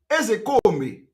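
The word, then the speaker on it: Ozekhome: when I want to pronounce, I pronounce it the way Igbo people are pronouncing it. I'm a typical Igbo man. The real name of Mike Ezekome is Mike Ezekome. Mike Ezekome. That is the real name. That is the pronunciation. Ezekome. All this Ezekome, put K, put H, all those things are nonsense.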